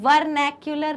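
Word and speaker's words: vernacular: एक को हम बोलते हैं, ध्यान से सुनना प्रोनाउंसिएशन, एक को हम बोलते हैं वर्नैक्युलर नेम्स, मतलब कॉमन नेम।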